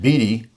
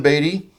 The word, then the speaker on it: Beatty: They said his name should be pronounced Beatty. And I said, not Beatty as in Warren Beatty? And they said, oh, no, we don't know who that guy is. But so, you know, when you're in Dublin and they have the manuscripts, that's exactly how you pronounce it.